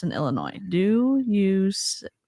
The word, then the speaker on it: Illinois: I I can't help it's Illinois the S is silent for once like I had s's on the back of everything but Illinois silent God she just said